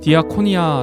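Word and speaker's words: διακονία: 섬 길 때 사용합니다 헬라어로 디아코니아 라고 발음하는 데 집사를 나타내는 디아 코노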